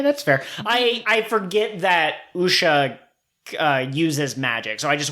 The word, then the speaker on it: Wuxia: a series of Wuxia, which is spelled like it should be pronounced Wuxia, but that's just because I'm coming at it from an Americentric point of view. Thanks to good buddy Trey for telling me how to pronounce it correctly.